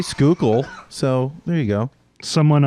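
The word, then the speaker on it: Schuylkill: I can't pronounce Oppenkampau. Oppenkampau, but I can say Skookle. So there you go. Someone on a podcast I watched pronounced it Schweekill.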